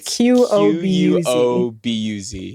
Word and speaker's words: Qobuz: See, now when I Googled what I thought that was going to be spelled like, it just goes, did you mean Qdoba, the Chipotle competitor? It's Qobuz.